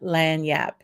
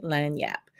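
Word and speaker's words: lagniappe: see these folks this is what we call lanyap in Louisiana land Yap it's pronounced l-a-n-y-a-p land Yap it's not spelled that way but what it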